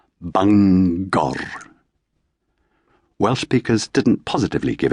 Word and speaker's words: Bangor: of a straightforward place name like banger separating the syllables but somehow leaving the G on both sides of the chasm rolling the final R. Bangor.